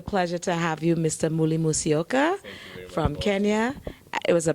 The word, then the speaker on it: Muli Musyoka: Ladies and gentlemen, this is, let me say it, Muli Musyoka.